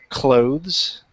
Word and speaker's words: clothes: so yeah so just make sure you're saying clothes clothes with th sound yeah are you are